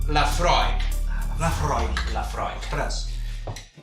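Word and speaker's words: Laphroaig: La Rock. La Fra. Cap dels dos, la pronunciació correcta és la Freud.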